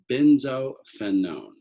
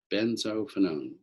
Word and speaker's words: benzophenone: a dibenzo ketone right here we call this benzophenone benzophenone for having two of these and it's spelled b e z no n z o